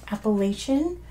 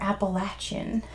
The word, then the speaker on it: Appalachian: Allegheny Mountains very good it can be pronounced appellation or Appalachian depending on where you're from in the U.S they run